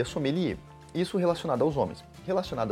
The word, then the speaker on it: sommelier: Familia começando pelo começo a palavra tem origem Francesa e se escreve desse jeito que tá aqui aparecendo para você sommelier e se pronuncia assumiria isso relacionado aos homens